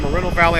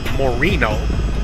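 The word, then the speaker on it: Moreno Valley: it has an M now I call it Marino Valley I have always but it's technically we actually pronounced Morino I don't know who came up with that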